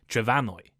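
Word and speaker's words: Trefynwy: And a few centuries ago, the M in Welsh somehow changed to an F, pronounced like a V, making the modern Welsh name Trefanwy.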